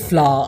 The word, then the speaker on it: flour: made of Wheat and spelled differently is pronounced the same way but don't worry people will know the difference from the context in which you say something if you said a cup of flour I'd know you're talking